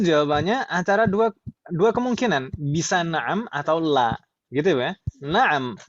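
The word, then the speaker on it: نعم: Na'am pendek ya. Jangan bacanya jangan dipanjangkan. Jangan na'am, tapi na'am.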